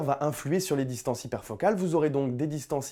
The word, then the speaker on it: hyperfocal: Donc comme ça se comme ça se prononce en anglais sans le e à hyperfocal bien sûr.